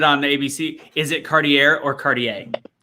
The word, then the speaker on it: Cartier: i did the preview for today i said cartier and i'm like that doesn't sound right because i had heard it on ice so cartier from this point forward i always hate when